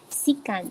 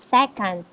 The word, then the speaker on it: secant: sine cosine tangent cotangent secant and cosecant so we pronounce it as secant not second and cosecant okay so